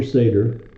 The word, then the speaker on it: Seder: So the Passover Seder, and that's the proper way to pronounce that word.